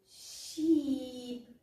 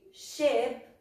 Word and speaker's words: ship: So, instead of saying sheep, baa, you'll say ship for navio. All right? So, it's the eh sound.